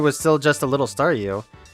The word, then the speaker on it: Staryu: still just a little Staryu, I could never pronounce his name right. It always ended up sounding like Sayu.